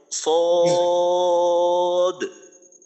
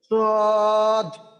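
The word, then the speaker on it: صاد: সদ সদ দ আচ্ছা এই সদ এবং দ শেষে একটু ধাক্কা দেওয়ার দরকার যেমন সদ এভাবে আরেকবার সদ আচ্ছা ঠিক আছে মাশাল্লাহ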